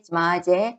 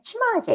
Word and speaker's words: 지마제: 이스트에는 말타제, 지마제, 치마제 이름이 2개입니다. 발음 나는 대로 읽으시면 돼요.